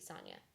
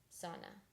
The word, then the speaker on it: Sona: Thank you, Sonia. Sona. I said it wrong again. Dang it. Thank you, Sona.